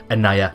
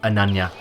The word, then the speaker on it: Annaya: dr anaya and yes i did get the pronunciation correct this time anaya not ananya and nanya anaya see if this professor